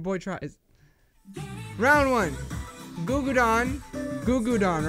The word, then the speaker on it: Gugudan: Gugudan, right? That's how you say it. Gugudan. Gugudan. Gugudan. Gugudan. Go. Highlight. I'm gonna say Goo Goo Don. Even though I'm saying that wrong, but I remember they have one song that I like.